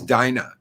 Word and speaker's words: Dinah: It's Dinah. I can never pronounce it correctly.